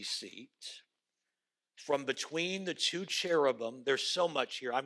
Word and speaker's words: cherubim: And on either side of the mercy seat, there are cherubim probably is the better way to pronounce it in the Hebrew.